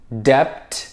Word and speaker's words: debt: Do you say debt? debt. النطق الصحيح لهذه الكلمة debt. debt.